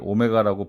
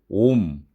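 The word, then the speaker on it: Ω: 그 단위는 그리스어 중에 하나인 이렇게 오메가 대문자를 쓰는데 여러분은 이것을 오메가라고 발음하시면 안 됩니다. 이렇게 저항의 단위로 쓸 때는 옴, 옴, 옴이라고 발음을 해주셔야 합니다.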